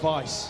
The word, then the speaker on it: Weiss: Ben told me not long ago that I've been pronouncing his name wrong for years. Well, it's Weiss. I think you've been getting it right. Yeah, I've been getting it wrong, yeah.